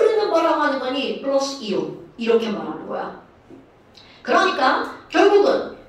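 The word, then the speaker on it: ion: 자, 그렇다면 이온이 도대체 뭐니? 이온이라고 하는 걸 볼까요? 자, 여러분, 이온은 영어일 것 같아? 한글일 것 같아? 한글. 아, 영어요. 영어. 영어입니다. 영어인데요. I-O-N 이거예요. 사실 진짜 발음은 아이언입니다.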